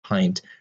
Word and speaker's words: pint: point that the eye in pint here is pronounced that long I sound pint whereas each of these